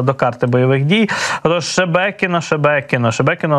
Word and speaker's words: Шебекіно: Це таке містечко, так, Шебекіно. Російські пропагандисти не знають, до речі, як правильно вимовити назву цього міста. Називають його і Шемякіно, і Шмєкіно.